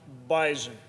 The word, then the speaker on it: Bison: FCS national champions the North Dakota State University bisen and yes it is pronounced bison uh and anyone from bison Nation uh which